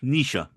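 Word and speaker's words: Naoise: i s e and I'm reliably informed it's pronounced Nisha and we'll somehow find out it's called Nick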